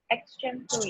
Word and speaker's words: extemporary: Extemporary. Extemporary. People, Extemporary. yes, Extemporary. people usually say extempore. Well, the right pronunciation is extemporary.